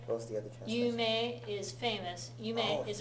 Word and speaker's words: 夢: はい。はい、いいですね。Be careful on the pronunciation. 夢 is famous. Yume is a dream.